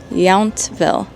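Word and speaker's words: Yountville: around the Napa area we are currently in yville I always wondered how to correctly pronounce that now I know yville unfortunately it is around 6:00 p.m.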